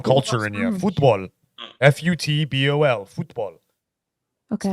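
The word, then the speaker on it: fútbol: pronouncing football is football because that's the Spanish pronunciation for it get some culture in here football f-u-t-b-o-l football okay it's a beautiful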